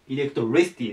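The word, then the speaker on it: electricity: と言いますエレクトリシティえっとアクセントがここに来るエレクトリシティですねで意味が電気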